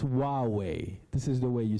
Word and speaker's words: Huawei: to be difficult so we have a way of saying it and it's just wow way this is the way